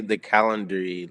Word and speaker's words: Calendly: Here's the Calendly link.